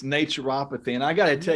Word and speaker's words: naturopathy: It's naturopathy.